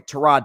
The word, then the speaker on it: Tyrod: Uh, Justin Fields got benched at halftime and replaced by Tyrod, sorry, Trod Taylor, that's how you say his name, Trod Taylor, who threw two picks in the second half.